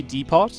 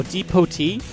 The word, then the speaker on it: depot: It's better if you pronounce the D, Depot. He's got his supply depot here. Oh, depotee? Oh, like that. Okay, the supply depotee.